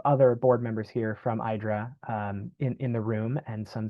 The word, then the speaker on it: IDRA: IDRA rhymes with Hydra to connote an entity